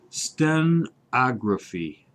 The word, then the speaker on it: stenography: and Phyllis was nice enough to point out the correct Yeah, pronunciation. Yes. Stenography.